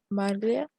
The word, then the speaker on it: maglia: O sea, se pronuncia tal cual, nada más cambia como que la pronunciación de la L, ¿no? Ajá, La primera sería maglia.